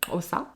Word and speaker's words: Xhosa: En 7 ans, j'ai pas réussi à le dire correctement et avec un accent, mais c'est le Xhosa. Oh Xhosa. Ouais. Avec les claquements de langue.